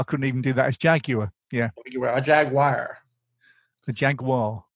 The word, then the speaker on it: Jaguar: I can't even say Jaguar right. How do you say the car Jaguar?